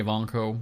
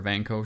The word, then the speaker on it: Evancho: Remember last week I had the bit of a rant about Jackie Evancho, or Evancho, she said, but people pronounce it different ways.